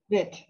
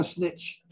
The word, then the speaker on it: Snit: Snit. There's no snitch. It's no Snit snitch.